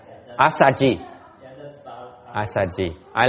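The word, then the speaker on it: Assaji: Asaji. Yeah, that's about Asaji. I like the Pali better. It's easy to pronounce.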